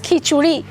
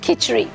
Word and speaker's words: khichuri: point of time yes we pronounce it as khichuri not khichri so because I'm talking